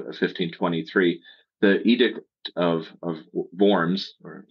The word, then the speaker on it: Worms: year mark of 1523 the Edict of of worms or worms if you want to pronounce it that way uh that was episode